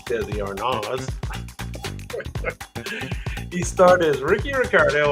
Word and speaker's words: Desi Arnaz: The robots spell it A-R-N-A-Z, just FYI. We all say Desi Arnaz. Well, I guess it's Desi Arnaz.